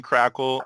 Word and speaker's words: Krackehl: uh yeah right this this week we Jonathan crackle I think I spelled your name wrong or maybe I didn't I don't know